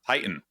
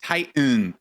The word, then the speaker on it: Titan: Webster actually is like Titan is how they pronounce it on Webster's it's kind of light weird yeah I just say Titan like tight and you know that's how I say it and peep but dude